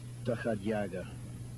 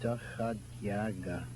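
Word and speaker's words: доходяга: it's pronounced, it is apparently a Russian term, dakhoyagas or something. Would you say it? I've been dying to ask the correct pronunciation of that word. Dakhadyaga. Dakhoyaga. Dakhadyaga.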